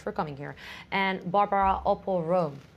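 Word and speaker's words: Opall-Rome: And Barbara Opel-Rome.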